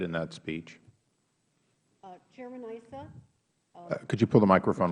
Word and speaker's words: Issa: little closer uh chairman Isa um if you recall after the president's speech Congress amended Issa okay so uh and since my name is normally pronounced Issa I'll interrupt at this